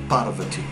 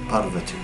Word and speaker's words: Parvati: And their mother, Parvati. Parvati. I'm trying to. It's not easy for me to do these pronunciations, you know.